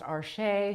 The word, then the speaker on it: Arches: I have been told it is actually pronounced archer. So, my apologies to any French people. I live in North America and we all call it Arches here, but same awesome paper.